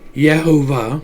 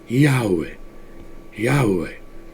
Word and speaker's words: Yahweh: but this is is this says yahuwah but that's not quite right if you look at the cabal Kabbalah they tell you the pronunciation of it is Yahweh right well that's a